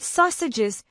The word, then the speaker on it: sausages: Bacon is pretty similar, but sausages can be a tricky one for learners. Make sure you pronounce the au sound correctly, like in sauce.